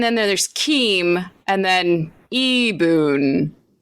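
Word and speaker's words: Ibun: I-B-U-N, but it's pronounced Eboon.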